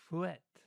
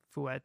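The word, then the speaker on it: fouetté: to make fret because I was hearing fret and I was like, okay, but it's gonna be spelled like pirouette, so I was like, I'm just gonna play it safe and do the et because all I hear is fret, but I see it now.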